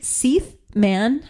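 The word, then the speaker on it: Seith Mann: And it's directed by um a a director um named I think Se Man. I think that's how you pronounce his name. It's spelled like Keith except with an S.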